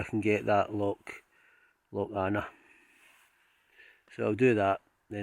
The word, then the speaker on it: Avon: it's written lock even but for some reason it seems to be called lock anna i know that's no idea why but it seems to be called or pronounced anna and yet it's written